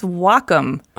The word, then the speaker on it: Wacom: no well calm no it's Wacom pronounced wah like the Japanese word for harmony and come for computer the Wacom Cintiq 16